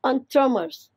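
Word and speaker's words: entremetier: It's pronounced as enthromers. It's again a French word, which means vegetable cooks.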